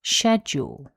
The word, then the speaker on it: schedule: The pronunciation guidance from the Cambridge Dictionary shows that this word has two syllables and the stress is on syllable one. That's schedule.